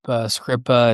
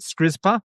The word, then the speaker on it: Skripa: Yeah, I wrote it alongside Jacob Skripa and Alex Foreman. Okay, so that was one of our questions. We've been pronouncing it Skrizpa, so it's Skripa.